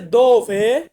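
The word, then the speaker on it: dove: Italian ভাষাতে বলবো চিবো এরপর আছে দিয়ে হচ্ছে দোভে দোভে দোভে মানে হচ্ছে কোথায় কোথায় এটাকে আমরা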